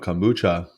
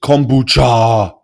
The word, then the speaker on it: kombucha: know what I mean apparently everyone mispronounces kombucha emphasis on the syllable not on all on the boo on each kombucha yeah it's supposed be like kuch cha well cha means tea